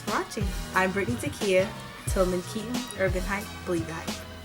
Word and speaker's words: Tilmon Keaton: the store owner who didn't know how to pronounce, but it's Tilmon Keaton, and his book is coming out in February, so you guys look out for that. Thanks for watching. I'm Brittany Takia. Tilmon Keaton, Urban Hype, Believe Hype.